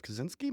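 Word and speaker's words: Kosinski: So for like the second time in 4 weeks, we've done a Joseph Kaczynski movie. That's how you pronounce it.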